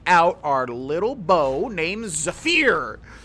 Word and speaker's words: Zephyr: Let's take out our little bow named Zafir. I know it's pronounced Zephyr.